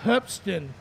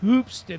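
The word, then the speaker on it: Hoopeston: many many times over it's hupston illinois not hoopston illinois but we won't get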